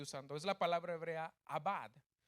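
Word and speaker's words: עבד: La palabra servir que usa la Reina Valera que estoy usando es la palabra hebrea abad. A-B, A, acento en la A y la D, abad.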